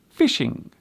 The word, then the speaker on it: phishing: This word is indeed pronounced as fishing, but as you can see, it is spelt with a PH at the beginning. This particular fishing means to attempt to